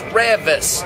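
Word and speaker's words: Reavis: Everybody thinks my name is Revis. Because of Beavis and Butthead. My name is spelled like Beavis, but Mike Judd, it's not Beavis, it's Revis. It's R-E-A-V-I-S. Revis.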